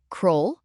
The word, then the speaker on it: król: Zapamiętaj, U zawsze czyta się jak U. Nigdy nie czytamy tego jako O. O, jak U. Bardzo łatwe. Sprawdźmy słowo król. Król, Prawie dobrze.